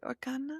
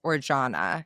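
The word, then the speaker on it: Arjona: Um Adria I believe you would pronounce it Orjana.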